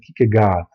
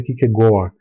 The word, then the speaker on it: Kierkegaard: No Brasil a gente fala na forma portuguesada, você vai ouvir com muita frequência Kierkegaard. A forma mais próxima aí do correto é Kierkegaard, porque a pronúncia em dinamarquês, ele era dinamarquês, ficou conhecido como o melancólico dinamarquês.